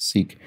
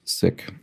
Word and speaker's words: Sikh: this looks like six i was corrected recently that it's not pronounced sikh but rather sick um and then attention